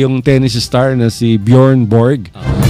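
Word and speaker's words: Björn: ang pronunciation niyan is born by y so sa Europe yung letter J ang pronunciation ay Y kaya ang tawag ng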